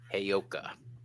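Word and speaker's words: Heyoka: E y like Hey, like hey. Okay. Oka. Oka. Hey yoka.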